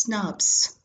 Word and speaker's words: snRNPs: nuclear ribonuclear protein particles snrnps pronounced as snaps Snaps are formed by